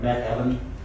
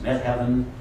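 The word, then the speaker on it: Methven: me heaven to me I mean it's read met Heaven it's pronounced me heaven and it just looked like meden uh Med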